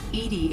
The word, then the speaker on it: EDI: is a joke why are you named edie edie is the phonetic pronunciation of e d that is an acronym